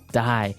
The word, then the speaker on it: dye: you're dying it okay dye so it's pronounced exactly the same way as you know to die to not live anymore die but it's spelled